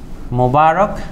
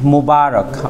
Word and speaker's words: মুবারক: যেহেতু হচ্ছে গিয়ে যে শব্দটি হচ্ছে গিয়ে যে অ্যারাবিক ওয়ার্ড, যেটা তার উচ্চারণ হয় সেটাই আমাদেরকে নিতে হবে। অর্থাৎ শব্দটা নিব হচ্ছে কি আমরা ঈদ মুবারক, অর্থাৎ এইটা হচ্ছে কি আমার সঠিক। আর মোবারক যেটা, সেটা হচ্ছে কি আমরা কি ভুল।